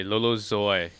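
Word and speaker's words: Lolo Zouaï: recommendation is caffeine by lolo zoy she had to google her name and check out how to pronounce it before this episode i'm pretty sure it was closer to zoo so i i don't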